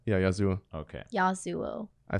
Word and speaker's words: Yasuo: sOooo is how you say yeah Yasuo okay Yasuo I say that's how you pronounce it yeah I'll see what you think